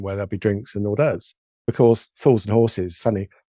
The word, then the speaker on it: hors d'oeuvres: there'll be drinks and hors d'oeuvres? Because fools and horses, suddenly, and as I said it, I knew I was saying it wrong. I said, "There's drinks and horsey derbies."